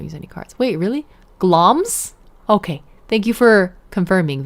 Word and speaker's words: Glamis: I assumed there would be vowels that weren't pronounced the way I thought.